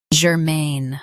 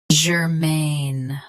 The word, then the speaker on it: germane: Germane. Both US and UK have the same pronunciation of this word. Stress, main. Keep ger soft and quick. Germane. Germane. Stress, main. Keep ger soft and quick.